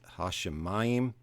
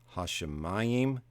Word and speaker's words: hashemayim: Bereshit bara Elohim et hashemayim ve'et haaretz. And you may notice that hashemayim and haaretz, they both have an accent on the next to last syllable, and the Masoretic accent falls there.